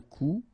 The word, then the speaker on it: coup: Un coup. And then un coup. Alright, so you can see that you get this final P here, but then you don't pronounce it.